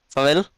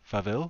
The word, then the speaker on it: farvel: Farvel. Okay, Seville. Farvel Se, with an se, F. se, Where's the F at the start? Faville?